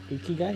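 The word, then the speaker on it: 生きがい: Ikigai, yeah.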